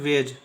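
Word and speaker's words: wedge: प्रकार से नेक्स्ट देखिए डी जो है जी के पहले आ इसलिए डी क्या होगा साइलेंट होगा और डब्लू ई डी जी ई का उच्चारण हम लोग करेंगे वेज इसका उच्चारण होगा वेज वेज का मतलब होता है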